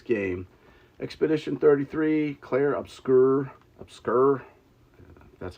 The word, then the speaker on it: Obscur: Obscur, that's how you say it.